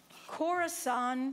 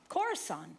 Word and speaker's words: Khorasan: One day, we're sitting, we're having our prayer, and Max reads this word, and he can't pronounce it, and he spells it. Khorasan, yeah.